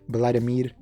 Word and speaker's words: Vladimir: In case you were wondering, Vladimir is like the English pronunciation, but the actual like Salvadorian pronunciation is Vladimir.